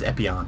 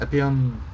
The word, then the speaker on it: Epyon: we have epon epon do you remember how they pronounce it I think it's epon yeah he's from uh which